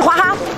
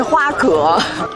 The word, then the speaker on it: 花蛤: 到手是 20 只，试试花哈，哦不，标准读音应该是花蛤，我之前一直读的